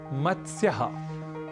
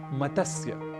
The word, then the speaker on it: मत्स्य: हम कर बैठते हैं, क्योंकि त, स और य ये तीनों ही व्यंजन वर्ण हैं और इनके मध्य कहीं भी अ या स्वर वर्ण नहीं है, इसलिए मत्स्य कहना तो अशुद्ध है। हमें इसका उच्चारण करना चाहिए मत्स्य, और संस्कृत में मत्स्यः, मत्स्य अर्थात मछली।